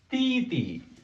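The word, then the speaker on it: 弟弟: This is a titi.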